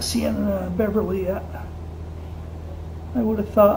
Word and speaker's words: Beverly: And it's pronounced Beverly, by the way, not Beverly, Beverly.